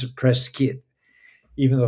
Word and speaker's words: Prescott: So, if you have the good fortune to be in Prescott, you pronounce it Preskitt, even though it's Prescott. It's spelled Prescott. But Preskitt, that's how the locals say it.